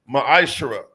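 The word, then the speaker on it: מעשר: 3:8 through1 means temp in the Hebrew it's pronounced maish 10% of every penny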